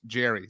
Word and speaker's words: Jere: Nice to meet you, Manny, from Jer, pronounced Jerry.